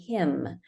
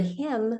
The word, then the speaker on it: hymn: and then in the word him we spell m with an MN so again just getting